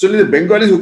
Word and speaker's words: Bengal: Now today got the state of Bengal in the east of India. So Bengal also locally is also known as Vangal. Bengal. Actually, most other languages in India call it Vangal. It's only the Bengalis who call it Bengal